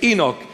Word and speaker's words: Enoch: In English, the pronunciation is Enoch.